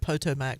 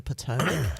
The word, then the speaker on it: Potomac: I had someone pronounce it Potomac once, and I Yeah, just that's not looked it. at him and I'm like, not it. No. You mean the Potomac?